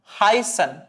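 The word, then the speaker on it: heißen: ഇവിടെ നിങ്ങൾ ഒന്നും ചെയ്യേണ്ടതില്ല ഡബിൾ എസ് ആയിട്ട് ഉച്ചരിച്ചാൽ മതി ഓക്കേ ഫോർ എക്സാമ്പിൾ ഈ വാക്ക് ഉച്ചരിക്കുന്നത് ഹൈസൺ ഹൈസൺ അതായത് ഈ ഒരു അസറ്റ് വരുന്ന സമയത്ത് നിങ്ങൾ എന്ത് ചെയ്യുക നമ്മുടെ ഇംഗ്ലീഷിലൊക്കെ ഡബിൾ എസ് സ്ട്രെസ്സ് ചെയ്തിട്ട് എന്ത് ചെയ്യുക ഉച്ചരിക്കുക ഹൈസൺ ഹൈസൺ സോ ഈ ഒരു എക്സാമ്പിൾ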